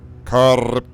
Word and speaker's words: Karripyora: And today we're looking at Neuter versus Carpura.